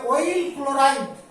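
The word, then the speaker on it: oyl chloride: আর এর ক্ষেত্রে উচ্চারণটা হবে অয়েল ক্লোরাইড, অয়েল ক্লোরাইড, অপ্রধান প্রত্যয় হিসেবে আসবে অয়েল ক্লোরাইড, এখানে ধরবে না নিচে, অয়েল ক্লোরাইড, CHLO, ক্লোরাইড, অয়েল ক্লোরাইড।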